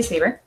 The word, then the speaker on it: Sieber: Sieber.